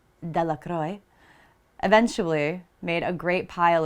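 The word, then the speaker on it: Delacroix: Bobby and Harry Jones and Dicki Deacroy, the villagers pronounced this name Deacroy, eventually made a great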